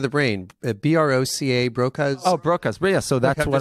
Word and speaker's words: Broca's: So that's kind of like Bracaz area. Is it Bracaz area? Did I say it right? I'm not sure what you're referring to. Oh, it's part of the brain. B-R-O-C-A, Broca's. Oh, Broca's.